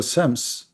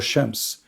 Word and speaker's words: Shams: So sometimes the letter S can pronounce as Ish. So as an example, Sams or Shams.